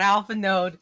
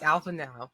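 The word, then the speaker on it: Alphinaud: You don't touch the D? I've been saying alpha node this whole time. It's not alpha node. It's alpha now.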